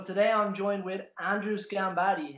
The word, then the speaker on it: Sgambati: i'm joined with andrew schambati how are you andrew you've actually pronounced my name right but that's probably because